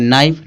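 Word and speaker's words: knife: इसको कनाइफ नहीं पढ़ेंगे। क्यों नहीं पढ़ेंगे? क्योंकि एन से पहले क्या के क्या होता है? साइलेंट होता है। तो इसको पढ़ेंगे नाइफ।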